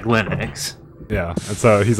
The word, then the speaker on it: Linux: It's Linux, right? Linux. Torvalds himself said Linux.